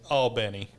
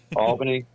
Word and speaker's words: Albany: on alny verse Albany I've heard a lot of locals call it all Benny like b n n